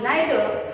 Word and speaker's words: neither: तसंच नीदर हा अमेरिकन आहे आणि नायदर हा ब्रिटिश ॲक्सेंट आहे. त्यामुळे तुम्ही नीदर म्हणा किंवा नायदर म्हणा, दोन्हीचा अर्थ एकच, दोन्हीपैकी कुठलेही चालेल. फक्त एज्युकेशन सिस्टीमने ब्रिटिश सिस्टीम घेतल्यामुळं आपण याला नायदर किंवा आयदर असं उच्चारणार आहोत. काही ठिकाणी आपण नीदर आणि ईदर असंही बोलणार आहोत की जेणेकरून तुम्हाला कळेल की याचं दोन्ही प्रोनाउन्सिएशन एकच आहे किंवा दोन्हीचा अर्थ एकच आहे, प्रोनाउन्सिएशन फक्त वेगळं आहे.